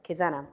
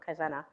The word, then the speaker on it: Kaizena: kind zena zen yes kizena i always say it wrong kaizena um anybody use it